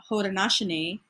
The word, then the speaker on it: Haudenosaunee: Now that is actually Haudenosaunee, not what they pronounced.